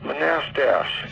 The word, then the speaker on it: Manastash: do you know where manastash yeah it's pronounced manast figures manast oh it's